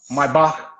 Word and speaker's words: Maybach: video today of a comparison of the uh my bach of 2007 in my bach of uh 2021 i think it was yeah 2020.